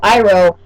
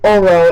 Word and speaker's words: Iroh: Iroh was Oro.